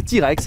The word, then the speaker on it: TRX: D'où le nom TRX, à prononcer T-Rex. C'est marqué, c'est un T-Rex, le T-Rex mange le Raptor, vous voyez bien.